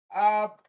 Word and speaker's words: appetite: So it is written as appetite. Appetite app is very stressed.